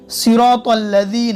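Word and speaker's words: صراط الذين: सिरातल्लज़ीन, direct तो के बाद लाम, अलिफ मौन है क्योंकि अलिफ के ऊपर कुछ भी निशान है और अलिफ आमतौर पर पढ़ा नहीं जाता।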